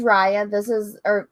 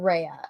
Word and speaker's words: Raya: look at this, the Raya and the Last Dragon. Yes. Let's look at this art. So this is Raya. I think it's Raya, not Rhea.